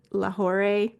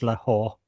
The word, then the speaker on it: Lahore: Berlin, Istanbul, Seville, and Laore. Allan is probably giggling over there because I probably mispronounced that. I think it's Lahore, but that but that's okay.